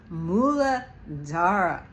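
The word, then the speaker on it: Muladhara: the phonetics of it it comes out spelled m o o l a because it's the way it's pronounced Mo or Moola so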